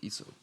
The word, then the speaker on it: IESO: Oh, ESO. there it is. On the bottom right here. Garden manufactured by ESO.